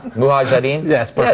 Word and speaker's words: Mujahideen: Mujahideen?